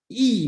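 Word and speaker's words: 易: Okay, so chapter 63 and chapter 64, Dao De Jing use a lot of word called yi, okay, pronunciation yi, okay, and then we translate as easy, right?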